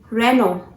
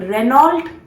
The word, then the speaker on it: Renault: Renault. Yes, this is the correct pronunciation. Renault is a wrong pronunciation. Never pronounce this word as Renault. This is Renault. How? Renault. Yes, this is again from